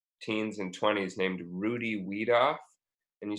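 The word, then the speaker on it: Wiedoeft: and 20s named Rudy we'd off and you spell that Rudy are you dy then we'd off misspelled W I II D o e F T that's like so it's we doffed w AI e d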